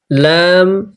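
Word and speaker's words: لام: ল্যাম এই অক্ষরটি চিকন করে শ্বাস বন্ধ করে পড়তে হবে, ল্যাম।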